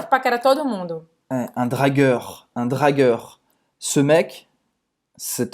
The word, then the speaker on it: dragueur: Dragueur. Esse você vai fazer a boca do O, tá? Bem aberto, O. E você vai falar dragueur. Gueur. Com R. Essa vez você vai pronunciar o R.